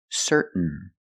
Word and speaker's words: certain: let's practice with some words ending in t a i n example certain certain you can say certain or certain but don't say certain it's certain what makes you certain